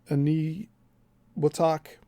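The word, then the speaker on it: Eniwetok: for interest, the test site of Bikini Island and Ani Watak. And that's a that's spelled E N I W T O T O K.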